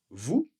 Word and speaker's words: vous: Alors attention ici le S vous n'est pas prononcé.